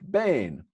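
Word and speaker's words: בין: in the original Hebrew that's pronounced Bane and that word Bane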